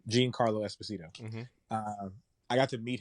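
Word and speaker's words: Giancarlo: i won't say geraldo it's not haraldo it's uh gene uh gene gene carlo esposito i got to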